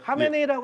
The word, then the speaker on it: 하메네이: 하메네이라고 표시되면 하면 되는데 원래 하와 하가 예. 이게 있는데 그 카하에서 하메네이입니다. 그래서 궁금했습니다. 그런, 현지에서는 그렇게 발음하는지. 네, 예. 네, 하메네이라고 하시면 됩니다.